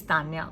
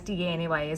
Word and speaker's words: Tanaya: My spelling is TANAYA, but the pronunciation of my name is Tanya only. So a lot of people ask me, you spell it as TANAYA, so is it Tanaya? So it's not Tanaya, it's Tanya.